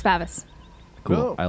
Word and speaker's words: Favis: It's not Favis? No, it's Favis.